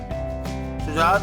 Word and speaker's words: شجاعت: پہلا لفظ ہے شجاعت۔ شجاعت پر ہم نے پیش لگا دیا ہے، شجاعت بہادری کو کہتے